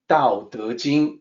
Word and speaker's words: Tao Te Ching: So regardless of how it is spelled, it is supposed to sound like the lower one, the bottom row, Tao Te Ching, with the D sound and the J sound.